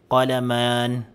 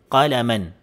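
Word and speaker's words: قلمًا: So instead po na bigyasin po natin ng qalaman, okay? So mali po 'yon. Ang tama po ay mapapawalang bisa po yung mad. So ang pagbigkas po na tama sa kanya ay qalaman, qalaman.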